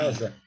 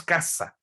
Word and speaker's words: casa: Casa é com S, mas ninguém diz caça. Só os hispanos. Os hispanos dizem caça, caça. Mas na fonética da língua portuguesa se escreve com S, mas o som é de Z.